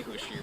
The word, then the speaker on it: Husch: But we say Husch, but if you say Husch, you guys sell for retailers, right?